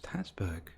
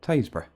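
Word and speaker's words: Tasburgh: the radio that there was queueing traffic in tasburg and i thought where the hell's tatsberg and then it dawned on me that they actually meant tays bro here's another classic norfolk village name again lon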